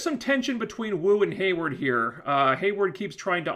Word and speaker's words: Hayward: So we go to the briefing, and Hayward, I think his name is Hayward, I was pronouncing it Wayward before.